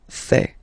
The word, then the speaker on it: fais: Je fais. Remember, final S not pronounced.